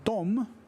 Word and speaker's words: dem: But they're both pronounced dom, DOM, and she wrote dom, which you don't fucking do.